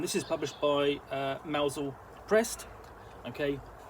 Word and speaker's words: Mousehole: uh mausol prest okay now i said mousel um it's spelt mousehole but uh the tristan that is tends to be spelt uh in tends to be pronounced mausol um as in the um cornish village so um we'll get